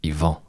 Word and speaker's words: Ivan: Okay, Ivan is what sweet Danish people call me, but it's actually Ivan. Yvon. Yeah, so there's like a period at the end. Yvon.